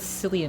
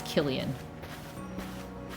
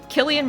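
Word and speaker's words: Cillian: I thought it was Silly Murphy, but it's I think it's Killian, which I feel bad about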